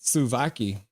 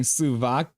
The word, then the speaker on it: souvlaki: Slovaki. Stop talking about food, you big backs. I was saying Sulaki.